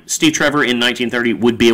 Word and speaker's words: Steve Trevor: Is it Steve Travers? Is that how you say it? Steve Trevor.